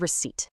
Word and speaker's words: receipt: Take the word receipt. It kept its silent P just to flex its Latin root receptor. Your mouth never actually makes that P sound.